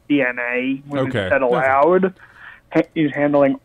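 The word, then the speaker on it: DeNA: basically Nintendo was letting Dina it's actually pronounced DNA okay that allowed is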